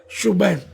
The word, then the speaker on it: شبیر: تو ہے نہیں، حسن، اور شبیر شبیر نہیں بلکہ اصل تلفظ ہے شبیر۔ تو یہ ہو سکتا